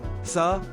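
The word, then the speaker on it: 사: The pronunciation of 4 inches, sa, sounds like the word for death.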